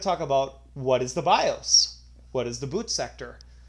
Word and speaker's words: BIOS: with what is the BIOS and it is short for basic input output system pronounced bios and there's a picture